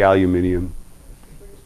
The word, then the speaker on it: aluminium: I like to say aluminium. The British way. It's the correct way.